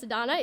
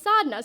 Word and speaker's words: Sodna: told me she's like sodna you can't do this anymore you have to tell people how to start pronouncing your name correctly your name is not pronounced sadonna it is pronounced sodna so you better do